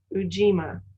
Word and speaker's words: Ujima: Did I pronounce it? Ujima.